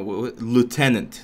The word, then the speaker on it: lieutenant: letters to lloyd no lieutenant lieutenant is the proper way to say lou and then tenant it makes sense right